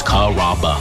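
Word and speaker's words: Carrabba's: kababa Kura it's a really easy name to pronounce it's karaba come to kabas for dinner enjoy chicken marsala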